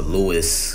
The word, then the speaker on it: Louis: lot of Rees-Zammit videos, or Lewis, because I guess his name is Lewis. I wasn't saying it right in the presser. He said Lewis, so Rees-Zammit.